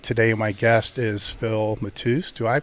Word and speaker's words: Matusz: is Dave Tate today my guest is Phil Mateus do I pronounced that correctly you know that's right Mateus okay very cool and we had a brief